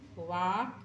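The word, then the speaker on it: walk: एल के वा वाक वाल्क नहीं पढ़ाए एल साइलेंट है यहां पर डब्लू ए के इस तरह से बोल दोगे तो यहां पर एल साइलेंट महसूस हो जाएगा वक आई कैन वक विथ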